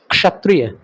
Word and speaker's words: क्षत्रिय: क्षत्रिय नहीं इसको देखोगे शुद्ध हिंदी उच्चारण करने वाले लोग बोलते हैं क्षत्रिय क्षत्रिय उसमें क भी निकल रहा है श भी निकल रहा है क्षत्रिय सुन रहे हो ना